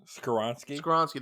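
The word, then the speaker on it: Skoronski: you know maybe a Paris Johnson there uh soronski that if they say his name right skoronsky there you go so I feel like he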